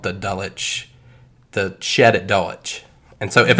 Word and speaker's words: Dulwich: situation this man an unnamed man and Doe Dulwich England Dulwich always I'm sorry Dalek Dalek Dulwich